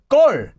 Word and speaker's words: 걸: Now, because of this lir, due to sound change rules, although it's always spelled as 걸, it actually is always pronounced in this form as 걸, with a double consonant there.